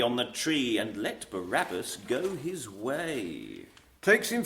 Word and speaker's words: Barabbas: I think that must be barbarous. No, Barabbas, yes.